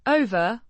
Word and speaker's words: over: Over Means over or across. Pronounced over with a long o sound.